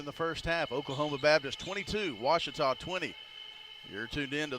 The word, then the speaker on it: Ouachita: university back in texas everybody pronounces it wichita but really it's ouachita washington washington how would you pronounce it it's washita baptist university get it right it's watertall people